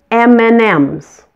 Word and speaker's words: M&M's: the candy you say M&Ms mnms the and that's in the middle of the two MS is just pronounced like the letter n mmm mmm there's one